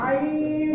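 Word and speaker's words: عين: ఐ ഐ ఐ ഐ আইন আইন আইন আইন আইন আইন শব্দটা হলো মানে গলার মাঝখান থেকে উচ্চারিত হবে ঠিক আছে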